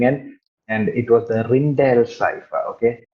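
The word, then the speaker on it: Rijndael: It was approximately 2001 when algorithms came pouring in, and it was the Rindael cipher. Okay, you write this as RINJNDAEL. Rinchdale എന്ന് എഴുതിയാലും you pronounce this as Rindale.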